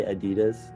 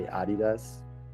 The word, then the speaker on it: Adidas: Like Americans say Adidas, Germans say Adidas, but I'm gonna say like Americans say Adidas.